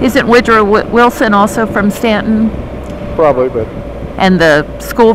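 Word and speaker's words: Staunton: you would pronounce it ston but that's that's that's how they know you're an out of towerer yeah they put the U in to confuse you yep and the uh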